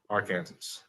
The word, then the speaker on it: Arkansas: Arkansas, say it like an American. Arkansas.